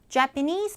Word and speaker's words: Japanese: jpanese people 다시 해보세요 Japanese people japanes people 강세가 뒤에 주 강세가 들어가요 앞에 약한 강세 있고요 Japanese people are quite